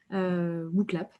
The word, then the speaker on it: Wooclap: Et je vous invite à taper dans votre moteur de recherche WooClap. Donc comme ça se prononce, WOOCLAP.